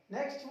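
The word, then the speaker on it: knock: Next one इज के silent.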